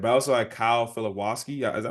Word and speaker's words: Filipowski: but I also had Kyle Filipowski. Is that how you say his name? Yeah. I think it's From Philip. I think Duke? there's more emphasis on the P, but The that sounds P, right.